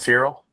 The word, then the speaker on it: Feral: Feral? Yeah, like a feral animal.